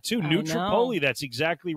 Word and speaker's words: New Tripoli: New Tripoli, that's exactly right.